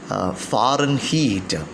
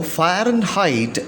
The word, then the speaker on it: Fahrenheit: about fahrenheit though the word fahrenheit is usually pronounced as foreign heat it is the exact pronunciation as for the cambridge advanced learners dictionaries fahrenheit now fire and height is used more commonly in the united states